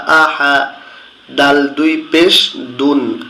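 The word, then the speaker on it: أَحَد: আ, হা জবর হা, আহা, দাল দুই পেশ দুন, আহা দুন। কিন্তু যখন আমরা এখানে থেমে যাব, লাল চিহ্নর এখানে এসে ওয়াকফ করব, তখন উচ্চারণ হবে আহাদ।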